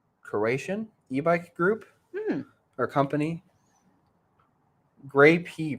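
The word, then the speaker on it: Greyp: e-bike group or company gray p pronounced like the fruit late last year supposedly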